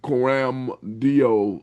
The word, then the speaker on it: Coram Deo: Tell us what Coram Deo is. Coram Deo.